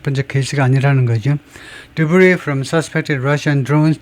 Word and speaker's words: debris: Debris from suspected Russian drones. Debris, S 발음 안 합니다. 왜냐? 프랑스어이기 때문에 잔해, 의심되는 러시아 드론들로부터의 잔해가 has been found in Romania before.